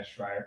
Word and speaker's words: Schreier: I've corrected people before, but yeah, Schreier. It's a Austrian. It means screamer in German, Austrian.